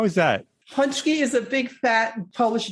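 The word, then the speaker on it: pączki: How do you pronounce that? The donut? Punchki? How is that? Punchki is a big fat Polish donut.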